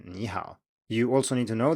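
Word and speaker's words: 你好: to remember is that if you have two third tones in a row the first will turn into a rising tone as in nihao you also need to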